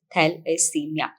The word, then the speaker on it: thalassemia: today we are talking about thalassemia which is pronounced as thalassemia it is a kind of anemia which is